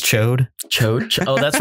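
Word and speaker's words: Ch'od: I love Chod. I love Rasa. I thought it was a little. The proper pronunciation is Chode.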